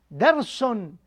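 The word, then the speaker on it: درسٌ: Okay, so you pronounce the last alphabet, which is sin, right? You pronounce it with dhamma, right? You pronounce the dhamma, and then you add noon. So here, darsun. So you pronounce dars. So the word is dars, and you put only dhamma here and noon, right?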